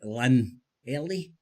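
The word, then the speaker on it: Llanelli: Yak yakle he's talking about um Tommy Robinson came to support ukip Wales and lanet Len Ellie that's how it's pronounced so he was talking about Tommy Robinson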